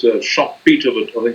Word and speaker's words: Schumpeter: Schumpeter says, it's Schumpeter, but I think it's pronounced Schumpeter.